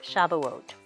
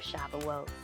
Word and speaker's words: Shavuot: reading a story about shavuot or the old-fashioned pronunciation is shabuos so this holiday begins